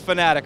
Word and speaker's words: Fanatec: Anyway, Thomas of Fanatic, and we've been getting some crap about not crap, but people have been correcting us about calling it Fanatec or not calling it Fanatec. It's Fanatic, right, Thomas?